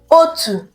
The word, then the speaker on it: otu: a heavy vowel, O, the O without a dot, and it is pronounced as O, O, O. It is a heavy vowel sound. Ka anyị bido. Let's begin. Otu, otu, otu, otu.